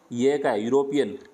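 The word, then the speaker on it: European: A university A यूरोपियन देखो ई आ रहा है लेकिन साउंड कैसा है यूरोपियन ए यूनियन य का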